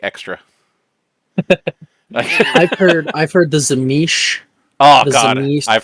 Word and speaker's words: Tzimisce: if you look in the pronunciation, it is Z me C.